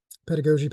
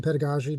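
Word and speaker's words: pedagogy: um and that's about classroom management or um pedagogi pedagogi depending on how you want to pronounce that but how you teach students right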